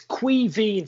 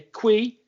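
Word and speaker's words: Caoimhín: So it's Queeveen, so it's Kwee. It's pronounced it this way, Queeveen, Veen, Queeveen. It's actually Kevin, but it's Queeveen.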